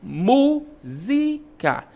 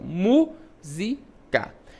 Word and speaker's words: música: Música. Vejam que mu é pronunciado com mais com mais intensidade, ó. Música.